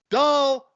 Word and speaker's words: Dolezal: It is pronounced Dolezal.